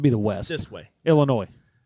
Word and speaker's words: Illinois: Illinois. How do you say it? Illinois. Illinois. Illinois. The S is silent.